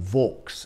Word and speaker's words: Vaux: of James Hardy Vaux, or Vaux, as the English would have pronounced it, V-A-U-X, who was a chap who'd come out to Australia twice as a convict.